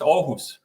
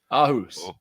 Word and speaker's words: Aarhus: But if you want to rehearse it, it's Aarhus. Aarhus.